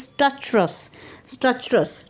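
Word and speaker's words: stertorous: 10 minute बाद क्या होता है, breathing less स्ट्रक्चरस, please see the pronunciation, listen to it carefully, it इज़ स्ट्रक्चरस, ठीक है, कि उसकी जो ब्रीदिंग है वो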